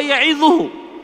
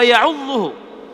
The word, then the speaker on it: يعظه: Orang ini membacanya bukan wa huwa ya'idhuhu, yang artinya waktu ia memberi pelajaran kepada anaknya, tetapi wa huwa ya'udhuhu, yaitu artinya dan saat itu dia sedang menggigitnya dengan giginya.